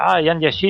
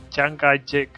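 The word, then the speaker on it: 蔣介石: Estos occidentales que no pronuncian bien. Es que en realidad se parece Jiang Jiechi, Chiang Kai-shek. O sea, no se diferencian tanto en realidad. Es simplemente fonética.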